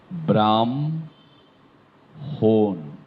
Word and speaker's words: ব্রাহ্মণ: ঠটা ঠিকমত আসতে হবে ব্রাহ্মণ চমৎকার একটি শব্দ যেটি আমরা ঠেকে যায় অনেকে ব্রাহ্মণ অনেকে বলে এটির উচ্চারণ হবে ব্রাহ্ম হোন শুদ্ধটা ব্রাহ্মণ ব্রাহ্মণের ছেলে বলে কথা এটা অনেকে বলে ব্রাহ্মণ দুইটা মৌ দিয়ে দিল নিজের ইচ্ছামত এটা অনেকেই করে তো সেটি করা যাবে না এটি ব্রাহ্মণ একইভাবে ব্রহ্মপুত্র ব্রহ্মপুত্র নয়